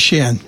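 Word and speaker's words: Shein: factories I think yeah called Sheen or shien I called it Shen that's because that is the correct way to pronounce it and I literally got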